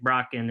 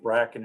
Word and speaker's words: Bracken: Tyler Cacciatore, and Isaac Brocken, and do you think they'll be ready for fall? Yeah, they're all in town working out. It's Isaac Bracken, I think, the way we pronounce it, but they're all here,